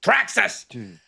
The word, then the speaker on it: Thraxas: be talking to thraxus because it's got an exclamation point and you have to say it properly THX you have to say it properly track us but we'll be getting